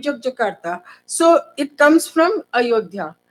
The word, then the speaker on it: Yogyakarta: Yogyakarta, actually, the original pronunciation, sometimes people call it Jogya. Sometimes we will call it Yogyakarta.